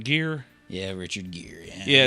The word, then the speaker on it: Gere: Gere.